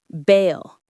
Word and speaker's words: bale: The pronunciation is just like the word sail, but with the B at the beginning. Bale.